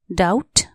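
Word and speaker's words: doubt: एस T trust शंका डाउट डी ओ यू बी टी डाउट यहां B silent D ओ यू बी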